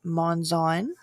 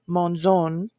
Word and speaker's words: Monzon: correction for Miss Sarah her last name is pronounced monzon so I apologize and also besides the monzon if you are her in-laws it is Monon I love it she's